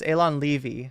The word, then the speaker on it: Alon: Hamas is waging okay I was mispronouncing his name it's Alon l two Wars against Israel